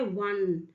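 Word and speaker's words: one: वन आया है तो वन को जब आप प्रोनाउंस करते हैं तो साउंड होता है वन राइट जब वन साउंड होता है तो डब्लू का साउंड आया है इसका मतलब यहां क्या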